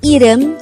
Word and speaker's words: 이름: is the korean noun for name the word edem could be divided into two syllables e is just the sound of